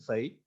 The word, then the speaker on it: psi: तो यहां पे जो ये साई है, this साई is nothing but, साई इसे स्पेल करते हैं PSI लिखते हैं, P साइलेंट साई, ये आपका वेव फंक्शन, और ये है वो जो वेरी कर रहा है विथ पोजीशन एंड टाइम.